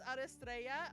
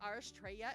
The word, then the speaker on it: Aristraa: My name is Aristraa or Astraa if you can't roll your Rs.